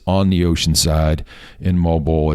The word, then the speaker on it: Moalboal: So off to Moalboal, and that's spelled Moalboal, Moalboal, and we've heard it pronounced so many different ways. The American way, it looks like Moalboal, but it's like Moalboal.